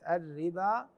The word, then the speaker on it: الربا: اكو الف خنجري صغير هذا الالف الخنجري الصغير اذا وجد او رسم فوق الواو دلاله على ان هذه الواو لا تلفظ مطلقه هذه الكلمه يعني كلمه الربا كما سلفنا في الصفحه